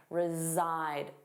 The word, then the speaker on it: reside: Notice that pronunciation reside. Zside, the voiced sound reside.